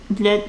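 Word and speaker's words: блять: Because I feel like there's really no reason an English speaker couldn't pronounce it as a instead of in that word. Like blять instead of bleh, the way people pronounce it.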